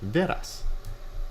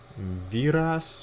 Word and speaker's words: veras: that they would say is it viras or veras or veraz how do you